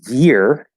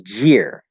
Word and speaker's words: year: the jit sound uh when you come to English and you say you know a year it becomes jeer right what year were you born very common big big signal of a Spanish accent sounds very Spanish to